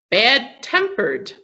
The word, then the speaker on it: bad-tempered: So for compound adjectives, the stress is on the second part. Okay, bad-tempered, like a person who gets angry quickly.